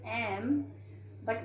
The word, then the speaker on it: MP: is starting with m but what is the pronunciation it is m b okay so here we write and mp because even though it is starting with constant letter but the sound we are having here is verbal sound so we put